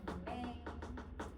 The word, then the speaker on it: 경례: 경내. 물론은 발음 경내해서 여러분 니음 발음이긴 하지만 이러면 음성이라고 그냥 표시해서 자 이거고 여기에 기위가 담겨져 있어.